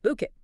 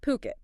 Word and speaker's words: Phuket: And remember, it's Puket, P H U T, pronounced Puket.